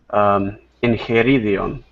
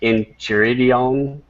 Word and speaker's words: Enchiridion: In Greek, it's enchiridion, which means in the hand, like a handbook. But I don't. Do you say enchiridion? Enchiridion? No, you pronounced it correctly the first time. Enchiridion. Yeah, that's correct. Okay, I just didn't know